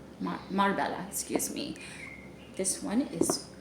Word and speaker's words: Marbella: bottle this one is carne Barcelona this is Marabella Marbella excuse me this one is really appropriate for